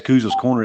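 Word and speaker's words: Couz's Corner: It's Kuz's Corner. It's spelled COUZ''S, not spelled exactly how it sounds, but yeah, I appreciate you your interest in wanting to share my show, man.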